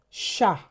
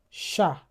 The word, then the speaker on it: chat: So, if H follows the letter C, it is the the CH will be pro uh will be pronounced as sh. For example, chat chat chapeau exactement We also have the J N It sounds like ni.